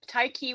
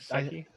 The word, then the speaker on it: Tyche: Tai Chi was the #1 way that we found. It's to pronounce it. TYCHE. Yeah. Tyche. Yeah. I like Seki.